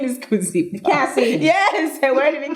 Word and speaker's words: Kuzipa: And, my name is Kuzipa. And they were like, what's your name? Kuzipa.